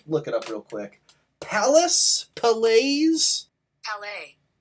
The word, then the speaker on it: Palais: Palace? Palais? Palais.